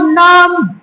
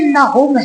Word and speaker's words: نہم: یہ واضح کرتا چلوں کہ یہ صحیح تلفظ جماعت نام یا نہم نہیں بلکہ جماعت نہوم ہے۔ تو جماعت نہوم کے